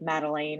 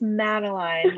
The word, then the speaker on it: Madeline: A lot of people would pronounce Madeline's name like Madeleine or something. And I'd be like, well, actually it's Madeline, Yes.